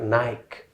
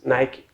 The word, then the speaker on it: Nike: an american company so i've heard even some teachers pronouncing it like nike and what the reason is again i'm gonna explain that at the end of the lesson so it's like it's not nick it's not nike it's nike number 10 vitamin vitamin